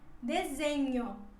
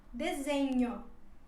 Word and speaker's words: desenho: a letra h acompanhada da letra n que ela se pronuncia assim desenho desenho seria para se você fala espanhol seria como a letra n do espanhol dezembro depois seguimos com